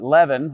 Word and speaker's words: leaven: the living of uh it's called the Le not the not heaven leaven I always pronounce it